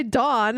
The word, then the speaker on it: Dawn: is different from dawn because it's because you're pronouncing the first Dawn wrong d o n da d a w